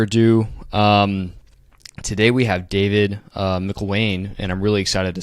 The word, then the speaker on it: Mcllwaine: And it's Mcllwaine, just as an FYI. It's hard to pronounce, and everybody fumbles through it. So there's an A that doesn't exist.